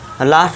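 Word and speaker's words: law: जब किसी वर्ड में ए डब्ल्यू आए तो ए डब्ल्यू को ओ से पढ़ें। तो आप यहां शॉर्ट में लिख सकते हैं ए डब्ल्यू = अ। ठीक है दोस्तों? अब ए डब्ल्यू आ गया। लॉ भी हमारा यही कहता है लॉ। एल ए डब्ल्यू लॉ इस तरह एस ए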